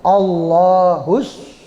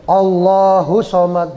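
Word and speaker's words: الصمد: ayat yang kedua itu allahusad Nah itu tasdid ya jangan allahus Somad jangan begitu allahus Somad ya Hus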